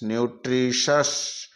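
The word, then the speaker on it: nutritious: का उच्चारण निकालते हैं जब टी के बाद में आईओ आए तो टी को से पढ़ते हैं सी ए यू टी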